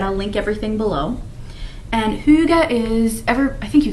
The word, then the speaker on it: hygge: like i said i'll link everything below and hyuga is ever i think you guys have heard of it maybe or it's spelled h y g g e and it's